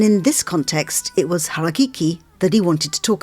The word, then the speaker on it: harakeke: Hara. Keke.